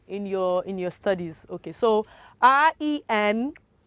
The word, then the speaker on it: rendezvous: Okay, so RENDEZVOUS. How do you pronounce that, or how will you pronounce that?